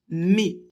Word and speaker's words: mes: Pour le possessif pluriel, prononcez le ES et mes.